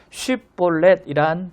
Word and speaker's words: 쉽볼렛: 자, 그래서 쉽볼렛이란 발음을 에브라임 사람들이 못한 거예요. 강하게 해야 되거든요. 쉽볼렛. 근데 그렇게 발음 못하는 겁니다. 쉽볼렛 이렇게 발음을 한 거죠.